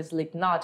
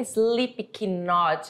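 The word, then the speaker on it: Slipknot: a banda vocês já ouviram falar da banda slep not é uma banda de rock não é slep not esse k não tem pronúncia que nem um verbo saber conhecer inglês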